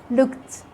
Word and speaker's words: looked: In the past form of the regular verbs, which all end with ed, in so many cases the E is silent. Like when you say played, asked, looked. You can't hear the sound of the E. We don't say asked, we don't say played, we don't say looked.